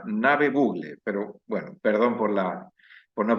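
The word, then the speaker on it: Ngäbe-Buglé: Wilfredo Mitre es líder comunitario de la comunidad Soloy, comarca Ngave Bluge, se pronuncia Nave Bugle, pero bueno, perdón por no pronunciarlo bien.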